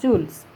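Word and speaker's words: joule: debe de quedar en unidad de howl que se pronuncian jules la fuerza siempre nos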